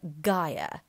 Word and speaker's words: gyre: Make the G hard in gyre and gimble, and pronounce wrath to rhyme with bath, or wrath to rhyme with bath.